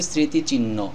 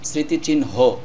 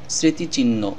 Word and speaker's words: স্মৃতিচিহ্ন: হ অক্ষরটি উচ্চারণ করিনি এখানে ন অক্ষরটি দুইবার উচ্চারণ করলে শব্দটির উচ্চারণ সঠিক হবে শব্দটির সঠিক উচ্চারণ হবে স্মৃতিচিহ্ন অনেকে বলেন স্মৃতিচিহ্ন এভাবে উচ্চারণ করা যাবে